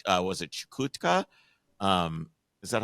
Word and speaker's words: Chukotka: in uh Northeastern Russia like uh was it chutka um is that how you pronounce that is that is that right you probably mean chakota that's chotka yeah the very remote Russian region exactly yeah